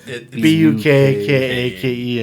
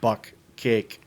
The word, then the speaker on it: bukkake: Yeah, the way it's spelled is like Bukkake, and she Yes. thought it was like buck cake.